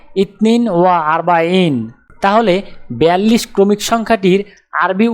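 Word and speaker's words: اثنان وأربعون: আরবি ক্রমিক সংখ্যা 42 দেখতে এরকম, উচ্চারণ হবে ইতনিন ওয়া আরবাইন।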